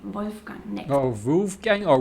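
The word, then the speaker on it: Wolfgang: Which is more like here pronounced with an American accent. It's wolf gang.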